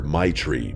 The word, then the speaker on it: Treye: She laughed and told me everyone just calls her my tree because that's basically how you pronounce it.